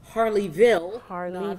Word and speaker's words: Harleyville: And you are from, careful with the pronunciation of this, Harleyville.